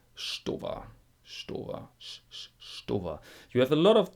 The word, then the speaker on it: Stowa: And this is a little bit wrong because the ST is pronounced SCH. Why? Why not? And not every time. Sometimes you say st, but in this example you say Stowa.